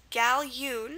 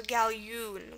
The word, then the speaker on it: galjoen: remember the ya sound, the J represents the Y in Dutch and Afrikaans.